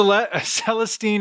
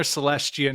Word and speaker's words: Celestine: mm sales team prophecy it's either C Celestine or celestian I've heard it pronounced both way celestian prophecy okay do